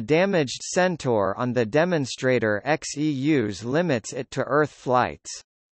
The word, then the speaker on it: Xeus: Xeus, pronounced Zeus, is a vertical landing, vertical takeoff lunar lander demonstrator.